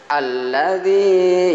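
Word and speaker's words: الذي: Ya, berikutnya ayat yang berikutnya, alladzi yuwaswisu fi sudurin nas. Ada tahzid sehingga dihentakkan bacanya alladzi, bukan alladzi tapi alladzi. Ya, zina ini matobi, alladzi, ya, harkatnya agak panjang.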